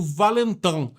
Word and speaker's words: Valentin: Tem gente que fala Valentin, a pronúncia francesa é Valentin.